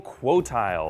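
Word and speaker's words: Qotile: order to kill the evil quoti which is how they pronounce it later I always thought it was codal but whatever and much like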